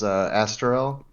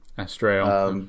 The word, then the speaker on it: Astarael: I think any pronunciation is probably okay, but I usually say it as Astarael. Astarael.